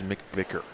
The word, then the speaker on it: McVicker: wanted to get Chase's uh the correct pronunciation of his last name. It is McVicker.